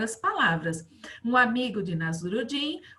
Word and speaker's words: Nasruddin: Olha como se fala, né? Nasruddin, Nasruddin, Nasruddin, certo?